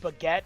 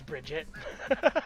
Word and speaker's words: Bridget: The only thing I know about the Guilty Gear series is that is that Baguette is trans and that's all that matters. Is it pronounced Baguette? It's not. Her name is Bridget.